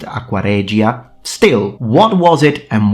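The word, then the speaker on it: aqua regia: a specific solution called aqua rea with an Italian pronunciation in medieval Latin probably pronounced aquaria.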